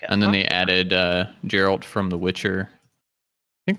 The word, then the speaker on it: Geralt: Geralt is what he says. So we're both wrong. Not Gerald. Geralt is what he says in this video.